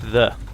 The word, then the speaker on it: Ye: it is actually pronounced the um because it's called a thorn the y letter is called a thorn for some reason in Old English and so whenever you